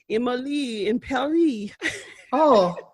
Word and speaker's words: Emily in Paris: according to netflix twitter you're supposed to pronounce emily in a french sounding voice or not in the french accent i should say and it's supposed to rhyme so it's supposed to be like emily in paris okay well that's cute